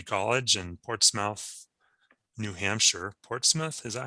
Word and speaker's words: Portsmouth: Portsmouth, is that how you pronounce it? Yeah, Portsmouth.